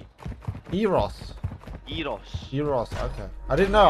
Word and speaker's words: gyros: They're called Eros. Eros. Eros. Yeah, Eros. Okay, Eros. I've never heard it pronounced that way, you know? Well, that's how you're supposed to.